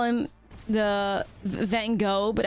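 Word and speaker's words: Van Gogh: the van go but I pronounce it in the Dutch way because like the art looks very like I mean not even really vanoi but like you know we call him the incredible Dutch pronunciation of vano which is Von I need to pronounce it better Von there you go everybody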